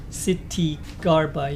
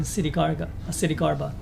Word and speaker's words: Ksitigarbha: Ksitigarbha, yeah, you don't pronounce the K apparently.